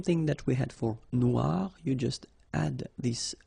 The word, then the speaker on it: noir: the end of noir for the feminine form, but then you don't pronounce it. Okay, so phonetically it is exactly the same.